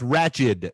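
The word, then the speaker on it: Ratched: it's it's it's so it's ratchet not ratchet right not ratchet yeah it's nurse ratchet yeah i never say wretched whatever how the hell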